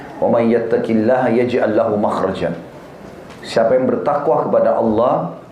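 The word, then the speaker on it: مخرج: Bahasa Arabnya itu mim, kha, ra, jim. Bacanya makhraj. Kenapa digunakan kalimat itu?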